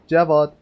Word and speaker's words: Javad: Javad. I don't know how you pronounce it, but it's Javad. In Persian, we call it Javad. Javad.